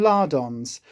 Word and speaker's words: lardons: Lean bacon lardons. Be careful how you say that because I keep pronouncing that with an H at the front.